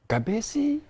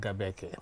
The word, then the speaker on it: GABECE: Greek I don't know I was saying gabesi all the time until I heard the minister yeah thank you very much uh the right pronunciation even though pronunciation is not uh something that is standardized as such but uh as a ministry we prefer it to be called gabbeck gabbeck then I